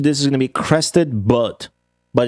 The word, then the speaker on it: Crested Butte: The answer to this is going to be Crested Butte, but it's pronounced Butte.